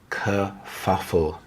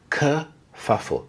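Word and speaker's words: kerfuffle: Kfuffle. We have the h sound here. The schwa sound. Uh kfuffle. Kfuffle. A kfuffle is a noisy argument, especially one caused by conflicting views.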